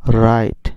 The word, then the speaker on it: write: তাহলে ডব্লিউর উচ্চারণ না হলে এখানে আমরা কি উচ্চারণ করব? রাইট, WRITE, রাইট।